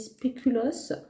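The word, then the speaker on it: spéculoos: prononciation mais bon maintenant je sais que ça se dit spéulos donc celui-ci est au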